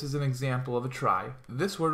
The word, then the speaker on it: trie: A trie, that's how this is pronounced right here.